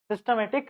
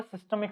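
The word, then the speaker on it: systemic: करते हैं है ना मैं सिस्टमैटिक बोल रहा था क्या इसका एक्चुअल जो प्रोनंसिएशन है वो सिस्टमिक सर्किट सिस्टमिक सर्किट ठीक है सिस्टमिक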